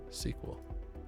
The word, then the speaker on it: SQL: for structured query language, but it was originally structured English query language. So that's why I think the correct way to enunciate it is SQL. But everybody goes back and forth, so you can pronounce it however you like.